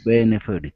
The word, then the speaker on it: benefited: Okay, benefited. Yeah. Yeah. First syllable stress.